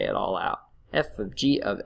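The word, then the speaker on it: f∘g: So you would write it something like this, f of g is how you would pronounce it, but you might call it, seen it called fog or goff, but it's really f of g.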